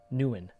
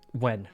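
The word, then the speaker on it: Nguyen: what i'm talking about that last name nuan no incorrect how embarrassing imagine not knowing how to pronounce such a common last name it's actually it's so common i i was joking but it is extremely common when yes it's it's like when more or less came back at the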